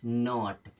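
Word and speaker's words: not: से बनता है ट अब बीच में आ गया ओ ओ का क्या लगाएंगे आ की मात्रा तो ये क्या हो जाएगा नॉट क्या हो जाएगा नॉट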